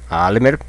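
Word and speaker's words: אַלמער: let's see together Almer Almer pay attention to the sound of R okay American speakers Almer is the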